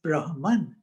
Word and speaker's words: Brahman: of the universe as Brahman. And these are two, I mean, the exact pronunciation, Brahma and Atma, but then in English we don't put an end at the end.